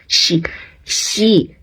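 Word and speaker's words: Xi: naman hindi ka Nakakahiya she ang yung x ay pronounce as she she Okay shein pingin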